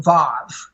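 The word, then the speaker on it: ו: just type in the letter Vav, which is W-A-W, Vav. It's pronounced with a V, but it's a W, A-W.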